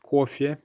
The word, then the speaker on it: кофе: exception to this, because although the letter O is the one being stressed, the Y at the end is still being clearly pronounced. Кофе. And again, it's not a very clear and open Y sound. Кофе. But it's still not an E.